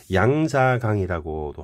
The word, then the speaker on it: 양자강: 양자강이라고도 하고 중국 발음이 양쯔강이죠.